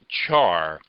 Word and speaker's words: char: The next data type is the char, or sometimes pronounced char.